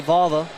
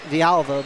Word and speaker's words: Villalva: But, you know, obviously Valva, that's not actually how you say it. It's Pat Villalva.